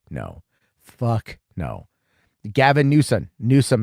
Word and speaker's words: Newsom: Newsom is 1, right? Newsom. It's 2 syllables, but it's 1 new.